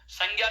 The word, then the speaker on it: संज्ञा: इसको हम प्रचलित अर्थ में गय से उच्चारण करते हैं, किसको? गय को। किसको? गय को। हम प्रचलित अर्थ में गय से उच्चारित करते हैं, जबकि वास्तविक इसका उच्चारण होता है वो दोस्तों क्या होता है? जय होता है।